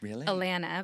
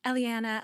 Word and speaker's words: Elanna: And I mean, you pronounce my name perfectly. Elena, but most people are like Elelliana, Elena, Elena, the E really messes up the pronounce.